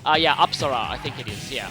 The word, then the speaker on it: Apsara: I've actually recently been in a country that had Hindu temples, so I now know the correct pronunciation of this persona's name is Apsara. Yeah, Apsara, I think it is, yeah.